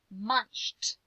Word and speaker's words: munched: Munched. What sound does it make? Yeah, it makes that T sound. So hunted and munched, although they look alike, guys, they're totally different. Hunted had the id ending for ed, and munched sounded like T.